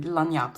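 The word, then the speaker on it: Lagniappe: So this is how we pronounce it, Lanyap.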